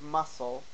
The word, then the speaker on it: muscle: We don't pronounce the C of muscle.